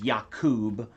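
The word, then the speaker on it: יעקב: And Jacob in Hebrew, its right pronunciation is Yakub. Because J comes from uh the Iota, which is the Yud, which is the letter Y.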